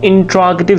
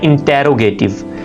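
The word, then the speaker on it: interrogative: अब हम देखते हैं कि इसका हम इंट्रोगेटिव सेंटेंसेस यानी सवालिया फिक्रात कैसे बनाएंगे। इस लफ्ज को बहुत से लोग मिस प्रोनाउंस करते हैं इंटेरोगेटिव। इट इज इंट्रोगेटिव, इंट्रोगेटिव यानी सवालिया फिक्रात।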